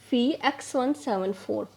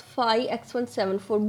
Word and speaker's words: Phi X174: Overlapping genes, they were first detected in the genome of bacteriophage Phi X174. You can also pronounce it as Phi X174. Both Phi and Phi are correct.